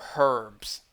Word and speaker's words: herbs: room for for hyrule herbs or herbs if you pronounce the h let's see what else